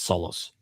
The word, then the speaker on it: Solos: It's spelled Saul in the translation, but it's Solos.